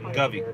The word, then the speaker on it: Govey: Oh, Govey. Yeah, just like Lovey.